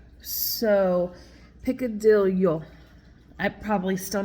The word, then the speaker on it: picadillo: you say this and he said that when there is a Double L you you uh pronounce it as a y like a yo so piccadillo I'm probably still not